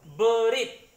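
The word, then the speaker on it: בְּרִית: Sehingga dia dibacanya B biasa, tidak di double B. Karena di depannya tidak ada huruf vokal apapun.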